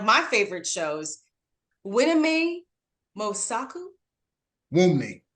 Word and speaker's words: Wunmi: Wumi. The N is silent.